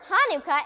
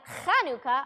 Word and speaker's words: Hanukkah: the dog talking now actually both Hanukkah and Hanukkah are right the holidays name is in Hebrew and so there are different ways to spell it and say it in English Hanukkah or Hanukkah thanks